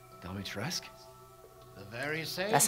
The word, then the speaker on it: Dimitrescu: Dimitrescu?